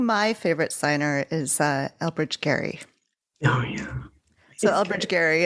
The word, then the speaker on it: Gerry: He pronounced it Eldridge Gary, and it's now gerrymandering.